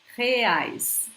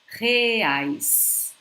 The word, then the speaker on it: reais: Reais, reais, reais. When we have a word beginning with an R in Portuguese, guys, I suggest you